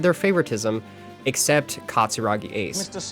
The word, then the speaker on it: Katsuragi Ace: that Ace was mentioned, they always pronounced his name wrong, too. They always called him Katarugi Ace in you know the Australian accent instead of Katsuragi Ace. Katsurugi Ace. No, his name's not Katsarugi Ace. It's Katsuragi Ace, my friend.